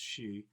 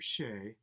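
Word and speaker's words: Sidhe: Robert Fenaday must drive the starship She, S-I-D-H-E, I think it's pronounced She, or Shay, across uncharted space to rescue his wife before war breaks out.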